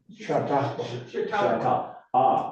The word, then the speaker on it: Chautauqua: for the winter I don't know how you pronounce that, winter Chautauqua silent auction. Pardon me? Chautauqua.